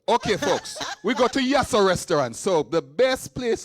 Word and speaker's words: Yasso: Yasso. Pronounce after me.